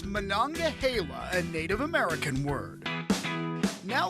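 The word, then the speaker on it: Monongahela: I'd say about that one of course it's mananga Hala a Native American word now let's try a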